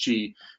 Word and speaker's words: Qi: the Qi standard which is spelled the Qi pronounced Qi that standard became you know there was a competing standard but when Apple chose cheese and it was kind of game over and